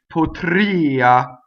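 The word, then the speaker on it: potria: Look 3 lines down to Potrìa, and see, this is how I've designated that that's a real vowel, right? Potrìa. It's not Potrìa, right?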